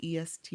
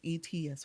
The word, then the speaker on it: Etsy: Um I don't say um the esty. I don't say them either. Did I say it right? No, it's Etsy. Maybe that's it. I said it backwards.